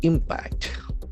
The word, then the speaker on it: impact: Eco impact. Eco is connected with nature. M P A C T. The other word is a very important noun. Impact. Impact. The accent falls on the first syllable impact.